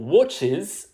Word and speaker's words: watches: Pour likes, on prononce un S. Pour reads, on prononce un Z. Et pour watches, on prononce is.